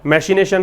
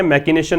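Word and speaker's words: machination: मैशिनेशन है, मैकिनेशन नहीं है, ठीक है।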